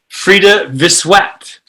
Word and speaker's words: Frida Vissuet: So I would love to introduce, and we are working through track 3, and I will introduce Frida Vissuet.